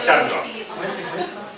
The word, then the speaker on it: Charlotte: Charlotte se pide, se pronuncia Charlotte.